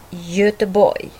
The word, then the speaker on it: Göteborg: G står framför mjuka vokalen Ö, alltså Göteborg.